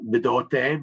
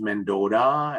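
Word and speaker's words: Bdote: You know, Bidote becomes Mendota, and, you know, so I tend to avoid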